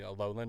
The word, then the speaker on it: Alolan: Wait, is that Galleran? Uh, it's uh Alolan. No. Oh, okay. I said it right the first time.